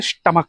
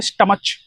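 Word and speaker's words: stomach: इसको बोलते हैं स्टमक। कुछ बच्चे बोलेंगे स्टमच।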